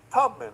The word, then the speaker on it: Tubman: And they're all referring to this web page alteration uh about Harriet Tubman. And it's Tubman, not Tutman as you pronounce.